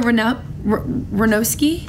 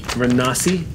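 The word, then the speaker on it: Renasi: Tell me if I pronounce it wrong. Raska Ranowski? Ranasi. R-E-N-A-S-I. I was way off.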